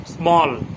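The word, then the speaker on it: small: তারপরে এ সমান সমান, মানে এ ইজিক্যাল টু ওয়া, স্বরে অ যেটা, এটা একটা উচ্চারণ হয়, স্বরে অ। কেমন, স্মল, এস এম এ এল এল, এস এম এ এল এল, স্মল, স্মল মানে ছোট, এস এম এ এল এল।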